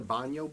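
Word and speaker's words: baño: a restroom real quick it's pronounced a banyo break friend albany but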